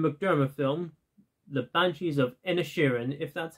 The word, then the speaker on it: Inisherin: Coming at number 6, we have the newest Martin McDermott film, The Banshees of Inisherin, if that's how you pronounce his name. Inisherin, not Ed Sheeran.